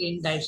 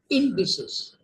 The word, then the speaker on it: indices: of a great significance you pronounce the word indices okay the singular is index and so not indes you don't pronounce it indes you pronounce it indices okay and it's plural of index an index is a